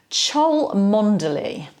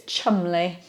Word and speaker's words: Cholmondeley: pronounced like that phonetically chole monthly nobody miss all kinds of letters out when we actually pronounce it in English it's Chumley makes sense doesn't it